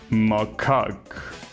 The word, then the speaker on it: macaque: It's pronounced macaque. Okay. I'm not gonna remember that, but thanks for letting me know. So it's not cake, it's cack. Macaque.